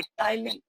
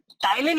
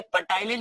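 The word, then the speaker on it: ptyalin: एक है जिसे हम लोग बोलते हैं टाइलिन। टाइलिन यहाँ पर पी साइलेंट है, इसे पटाइलिन नहीं पढ़ते हैं, इसे क्या बोलते हैं, टाइलिन बोलते हैं।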